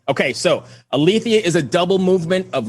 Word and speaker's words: Aletheia: Is that Aletheia? Is that how I'm pronouncing it? Yes. Okay, so Aletheia is a double movement